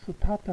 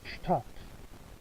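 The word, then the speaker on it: Stadt: 자, 발음할 때 여러분 에스테가 앞에 올 때는 좀 강하게 해야 된다 했죠. 스타트 하면 안 되고 다 같이 슈타트 슈타트.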